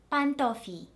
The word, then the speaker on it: pantofi: Pantof, pantof, pantofi. As you can hear, the double I at the end of the last example is pronounced as one full vowel and not as two separate vowels.